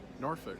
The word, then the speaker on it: Norfolk: words that are spelled Norfolk and Suffolk? So if you say Norfolk or Suffolk, you're gonna get a slap up the side of the head. Try Norfolk and Suffolk.